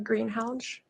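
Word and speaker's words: Greenhalgh: honor would you please state your name and spell it for the record greenhounge a-l-y-s-s-a and the last name is g-r-e-e-n-h-a-l-g-h where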